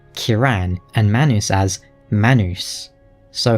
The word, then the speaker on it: Kieran: He also pronounces Kieran's name Kiran and Manus as Manus.